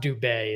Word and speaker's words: Dube: Yes, it's Dube is the way the last name is pronounced.